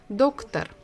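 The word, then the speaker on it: доктор: is doctor doctor so we stress the first syllable or doctor so we can guess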